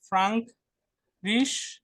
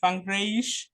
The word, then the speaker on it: Frankreich: যে the Frank Risch, না Frankreich, ফ্রাঙ্করাইস, ফ্রানজোজিস, Französisch, এটার উচ্চারণ কি?